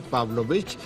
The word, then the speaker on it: Pavlovich: La senadora Pavlovich, que no tiene acento en la O, va a ser la candidata.